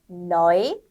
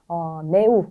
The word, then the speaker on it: neu: Neu, Euro, 유로 아니라 Euro, äußere aufräumen. 네, 그래서 네우 이런 게 아니라 나이라고 읽는 네.